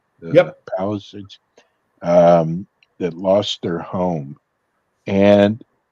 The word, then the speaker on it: Palisades: Is that how it's pronounced? Yep. Palisades.